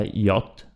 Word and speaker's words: yacht: Continuiamo, troviamo la parola yacht, che si pronuncia come in inglese.